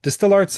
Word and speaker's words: DSTL Arts: Distill Arts, as it's actually pronounced, is a nonprofit arts mentorship organization that inspires, teaches, and hires emerging artists from underserved communities.